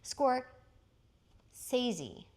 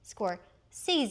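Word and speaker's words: Scorsese: Oh, including a richly textured tribute to Vincent Van Go, who is played by Martin Score Sea. Now that we know how to say his name correctly, score sees.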